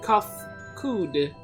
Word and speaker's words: Kafkudg: As for nomenclature, to address my individual person, I believe it would be pronounced Kafkudg.